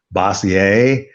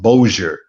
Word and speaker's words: Bossier: uh oh i i i said bossier and so i i guess and so i called the fire department there or somebody uh and they said no it's called it's pronounced bossier so i never would have gotten that out of bos as iar just by looking at but that's the